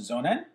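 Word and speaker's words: sonnen: to cover today are the zonan yes that's pronounced zonan followed by the tesla powerwall the electric then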